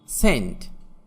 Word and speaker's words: scent: সাইলেন্ট সি, যেমন সেন্ট, SCENT, এখানে সি এর উচ্চারণ হবে না।